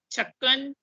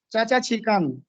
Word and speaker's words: چھکن: جی یہ سب سے پہلے دیکھیے، یہ لفظ ہے چچا چھکن. چھکن بھی نہیں ہے، چھکن، چاچا چھکن. چھکن جی چاچا چھکن، چھینک والا سر. چاچا چھکن ہے.